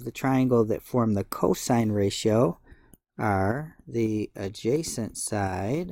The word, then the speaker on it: cos: number two the cosine which we abbreviate cos we still say cosine when we see this but we abbreviate it cos now the two sides of the triangle that form the cosine ratio are the adjacent